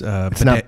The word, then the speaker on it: Badeaux: Yeah, it's bidet. It's bidet. But like, yes. Oh, it's like the thing you use to like flush your butt.